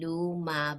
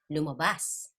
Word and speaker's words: lumabas: Okay, you're gonna Okay, pronounce the preceding syllables fast, like you don't almost like luma. No, you don't say luma, but lumabas.